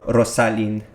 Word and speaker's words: Rossalyn: so that being said rosalind are you ready you're actually pronouncing my name right in spanish by the way awesome